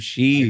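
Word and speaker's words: Sidhe: The pronunciation of this city is shikha. The word is of Irish origin that refers to the fairy folk. The spelling can be confused, but it refers to a long E sound at the end, similar Wait. to an English word I she. don't. So it's just she.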